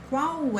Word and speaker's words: qual: However, in Portuguese, this L in the end of syllables, it's like U.